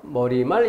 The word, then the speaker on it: 머리말: 발음에서 주의해야 될 것, 머리말, 인사말. 이것은 니은음을 넣어서 발음하는 것이 자연스럽다라고 잘못 생각하는 경우가 있다면 반드시 마킹해서 내가 틀릴 위험성이 높은 단어다.